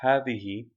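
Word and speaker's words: هٰذِهِ: learned first of all havihi which is the feminine of hava it is pronounced but the alif is omitted in writing so if you can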